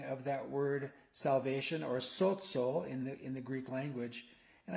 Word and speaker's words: sozo: And the word is spelled S-O-Z-O, sozo.